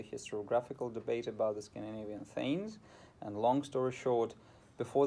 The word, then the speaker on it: thegns: a little step sideways, I will pronounce those words in an English way, so I will say drengs, not drengir or drengar or whatever, and I will say thegns, as we say in modern English, but of course, if